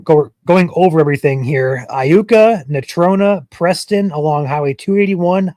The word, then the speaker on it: Iuka: I guess it's Iuka, not Luca.